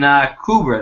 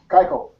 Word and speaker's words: Keuchel: And Kubra there. I think that's how you say it. Keuchel.